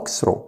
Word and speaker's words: walk through: خلي بالك ال A هنا silent وال GH silent. نقول walk through.